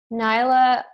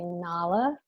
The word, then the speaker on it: Nala: movies are those from nyla is from Lion King and I've been told that we say it wrong it's supposed to be Nala Mancha Oda is from